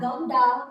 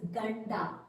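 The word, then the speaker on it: ಗಂಡ: Okay, so here I have, it is not gamda, it's ganda.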